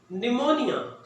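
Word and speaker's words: pneumonia: निमोनिया, पी को silent करेंगे।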